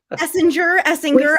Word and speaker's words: Essinger: I'm going to ask the question, is it hard G or soft G? Essinger. I've been saying gur. We say Essinger.